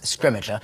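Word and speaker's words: Scrimgeour: this film we have bill nye uh playing scrimmager who is fantastic there was we have kind of eventually reached consensus on how to say his name and we're going with scrimmager i think that's how we've ended up saying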